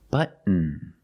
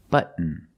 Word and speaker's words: button: Button. Button. Not button, it's button. Stop T and fall to the N.